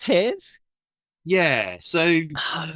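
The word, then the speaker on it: Hars: how you pronounce this this one is this pronounced ha yeah so oh right I've been pronouncing it hares hares I didn't know I had no idea yeah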